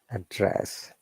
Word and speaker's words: address: syllable like this one address verb i just know we need to be careful when we use as a verb our tone should be upper intonation and we're stressing the second part address address